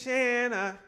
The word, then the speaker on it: Shanna: My name is Shanna. It rhymes with banana.